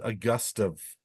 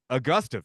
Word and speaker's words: Augustave: You've got Pronunciation guide says Augustive. Augustive. Yeah. Okay. So I was right. It says You were wrong.